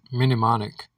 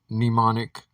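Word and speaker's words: mnemonic: People that pronounce it minimonic read things and see it in letters and words. And so the correct word being neimonic or pneumonics is simply the way that you say it.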